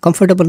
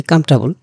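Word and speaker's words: comfortable: কমফর্টেবল feel করি না কমফর্টেবল না উচ্চারণটা হচ্ছে কমফেবল এনিওয়ে আমরা যখন ইংরেজি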